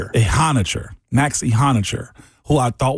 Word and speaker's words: Ehanire: They went and got him a new tackle, potentially a how do you say a a hot Max Max Ehanire Ehanire.